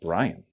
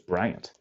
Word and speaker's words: Bryant: I didn't know was I thought it was Brian it's Bryant okay um I'm pretty sure